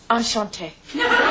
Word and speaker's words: Enchanté: Enchanté.